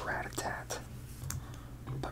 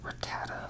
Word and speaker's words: Rattata: to say about Rattata I never really knew how to say its name I used to call him Rattata or ratat a Rattata seems to be the way just based on